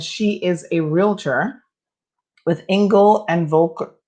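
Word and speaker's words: Engel & Völkers: Her name is Nikki Thomas, and she is a realtor with Engel and Volker. I think it's pronounced Engel and Volkers.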